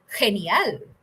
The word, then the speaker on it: genial: Right now, in this word, G is pronounced as H.